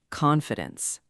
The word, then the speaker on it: confidence: Fourth word, confidence. Stress on the first syllable, con fi dence, not con fi dence.